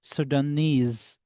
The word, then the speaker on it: Sudanese: How you would say the word, like Japanese, when you will pronounce where knees comes, so you will stress on the word knees. Japanese, Sudanese, Egyptian, where Tian comes, you will stress on Tian.